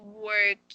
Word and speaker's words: worked: And the ending, this ed, since you added ed at the end, okay, it should sound like t, worked. Okay, yes, it should sound like this one, like saying worked.